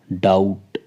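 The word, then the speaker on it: doubt: लेते हैं fourth one डाउट यहां पर भी बी जो है वह टी से पहले है इसलिए वो साइलेंट रहेगा और डाउट का हिंदी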